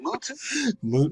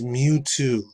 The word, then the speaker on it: Mewtwo: Is that how you pronounce his name? Mewtwo? It's Mewtwo. Mewtwo, you freaking donkey.